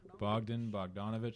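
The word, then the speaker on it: Bogdan Bogdanović: and uh is that Bogden yeah it's got Bogden bogdanovich that's how you pronounce Ben Jordan po Den Adida Aid AIA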